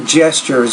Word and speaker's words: gestures: uh here's a tip words that have a tu in the middle like G gestures the TU is typically pronounced as a CH if the TU is in the middle of the word um the other reason